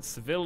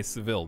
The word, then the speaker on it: Seville: else bro can you sevilla is the spanish pronunciation seville is english ah i got you so both i would say seville then pronunciations just change depending on who's saying it that's all that matters